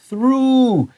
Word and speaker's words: through: So 这个单词是 the world through. 这个是长双后 like moon.我鼓励你写下来 moon 在上面 so you know through and moon have that oo sound.